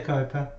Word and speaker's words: Kuiper: her last name and she pronounces it Kuiper's so I'm gonna pronounce it I would say Copa okay it's a Dutch man it's a Dutch name in case many of